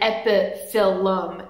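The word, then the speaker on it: Epiphyllum: plants like bulbo filum a lot of people want to say bulum or EPM but it's actually bulbo filum and EP filum it's Phil not file so it's just been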